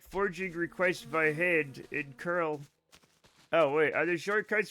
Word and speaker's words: cURL: Curl, pronounced curl.